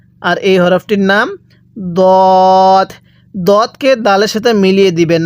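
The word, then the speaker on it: ض: এরপরে দদ, এই দদের উচ্চারণটাও ভিন্ন, দালের উচ্চারণটাও ভিন্ন, তাহলে সদ।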